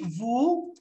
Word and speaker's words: vous: Donc, on dit vous allez jouer au, je sais pas. Bon, vous allez jouer. Okay? Vous. And we don't pronounce the S. The S is silent.